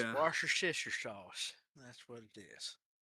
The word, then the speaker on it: Worcestershire: Yeah, chat has everybody has been giving us their individual pronunciations of it. Wash your sister. It's Yeah. Worcestershire sauce.